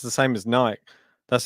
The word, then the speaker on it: Nike: See everyone in the live chat talking about Nike.